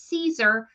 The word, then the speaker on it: Siser: to say it right so it is Caesar like the salad so that answers the